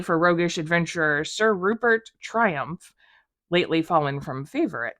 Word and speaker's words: Triumff: the creator of Guardians of the Galaxy and it's spelled wrong so here's here's a copy of the cover uh it's t-r-i-u-m-f-f Triumph it's by Dan Abnet Regina it's the year